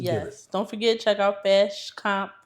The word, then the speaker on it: Fashcomp: Don't forget check out Fast Comp.